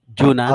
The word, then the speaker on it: Junan: Yes, Tama ba ang pronunciation ko? Junan? Opo, sir.